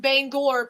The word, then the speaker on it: Bangor: ass for some reason knowing full well that they are the pronounced the exact same way i pronounced one is banger main and bangor pennsylvania like it makes a difference i just say banger i barely even know